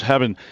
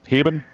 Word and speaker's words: Heben: back at us Heen uh how do you say your last name for sure heben he heben like he been there there you go